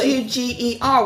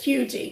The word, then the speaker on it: Huger: Carolina people just make up the way they pronounce it like hugi yes exactly h u g e r which is Huger right but it's hugi m okay if you say so so this